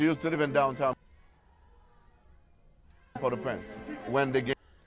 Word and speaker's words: Port-au-Prince: Yeah, she used to live in downtown Port-au-Prince. When they get Oh, Port-au-Prince, that's the pronunciation, Port-au-Prince.